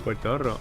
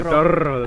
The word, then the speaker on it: Puertorro: Puertorro. That's a lot of R's there, but I bet you. Let's see how many of you can roll the R's like I do.